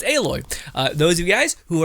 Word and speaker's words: Aloy: But no, this character is a 5-star character, Aloy, not Aloy or whatever. I hear some people say weird names. I finally get it because I know how to actually say her name, Aloy.